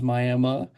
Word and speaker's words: Miami: Brandon Fletcher in Miami, Oklahoma, which is spelled Miami, but a lot of Native Americans here, a lot of tribes here, so it is Miami.